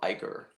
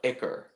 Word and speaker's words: ichor: She could hear the drip of ichor.